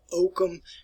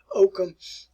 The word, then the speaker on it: Ockham: One individual, William of Ockham, and that's the way you pronounce it. It's not Ockham if you've been taught Ockham before, but it's William of Ockham.